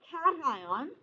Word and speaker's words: cation: foreign oh yeah honestly the first time people read it if they haven't heard it pronounced usually it comes occasion or fashion or something like that or caution or something yeah you wouldn't think it's cation but it is okay okay let me